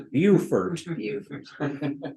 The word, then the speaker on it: Beaufort: And I'm mispronouncing that. The way the locals pronounce it is Beaufort.